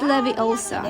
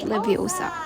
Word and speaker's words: Leviosa: Dito nanggaling ang isa sa mga pinakaiconic na linya ni Hermong tinuturuan niya si Ron ng tamang pronunciation ng spell na it's Leviosa not Leviosa.